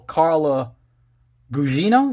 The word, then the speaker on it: Carla Gugino: And of course, they brought back the gorgeous, sexy, beautiful Carla Gugino.